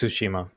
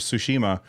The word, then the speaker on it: Tsushima: at me um but how do you say it Russ you know how to speak languages I think it's tsushima sushima okay I'll I'll get